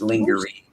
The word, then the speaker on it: lingerie: lingerie number one impressive it's lingery you sound silly when you say it wrong lingery that's lingery she's